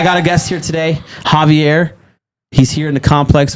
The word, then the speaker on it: Javier: make a correction I was wrong on the pronunciation of this gentleman's name it is Javier so Clint was right so let's give an